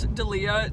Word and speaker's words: D'Elia: say his last name it's not Delia Chris D'Elia there we go Chris D'Elia is doing